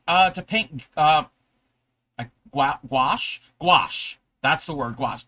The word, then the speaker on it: gouache: you're practicing paint uh to paint uh gua gouache. Gouache. That's the word. Gouache. I when I read it, I know it's not really spelled the way that I want to pronounce it.